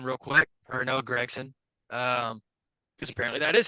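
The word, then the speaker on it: Gragson: going with this but let's talk about Noah gron real quick or Noah Gregson um because apparently that is how you say his name uh Noah greggson I actually think is a pretty valuable free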